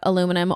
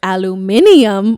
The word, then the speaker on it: aluminium: Guys, I've been hearing so much about aluminum, or if you're British, aluminium, which is one of my favorite ways that like the Brits say things differently than us.